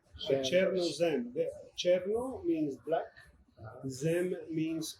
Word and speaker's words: Chernozem: We talked about this and I'm going to pronounce it wrong, so correct me. Chernozem? Chernozem. So, Chernozem.